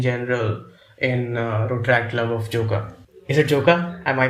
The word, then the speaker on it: Joka: guys do in general in Rotaract Club of Joka. Is it Joka? Am I pronouncing it right? Yes, it's Joka.